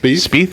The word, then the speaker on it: Spieth: Spieth, is that how you say it? Yes.